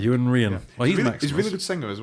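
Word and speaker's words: Iwan Rheon: r k isn't it how do you pronounce his name something like Yan ran I think Yan ran he's really good singer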